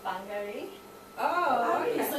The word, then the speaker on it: Wangari: this wonderful woman, and Wangari Maathai. You pronounce the W as an F apparently.